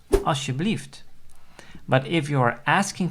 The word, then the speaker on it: alsjeblieft: So that word is alsjeblieft. And the L, the second letter of the word, is not pronounced, or it's hardly audible. So you will say alsjeblieft.